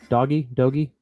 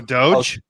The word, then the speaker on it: Doge: How do you pronounce it? Dogi? Oh, Doge.